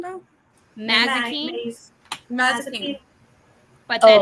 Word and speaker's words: Mazikeen: Mazikeen, Maze.